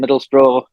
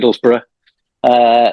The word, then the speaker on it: Middlesbrough: Yeah, I am from a place called Middlesbrough, I don't say it like that, Middlesbrough, which is a town in the northeast of England.